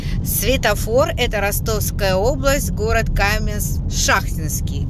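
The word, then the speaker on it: Каменск-Шахтинский: это Ростовская область город Каменс Шахтинский как меня один Подписчик сказал что вот сюда надо ставить ударение Но это неважно А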